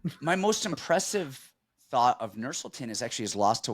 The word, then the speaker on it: Nursulton: Nursulton Ruziboev is the right way to pronounce it, actually.